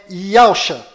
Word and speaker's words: Yahshua: O verdadeiro nome do Messias está do lado direito da sua tela e a pronúncia dele é Yahshua.